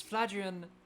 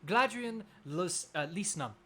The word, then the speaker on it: Gladrian: everyone my name is flagrion oh sorry gladrian sorry about that uh it is spelled exactly like glad iron last name and if